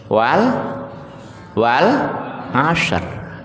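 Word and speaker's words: والعصر: Dua huruf dari belakang disukun dibaca wal asr.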